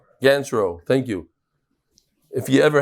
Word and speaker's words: Ganchrow: How do you pronounce? Ganchrow.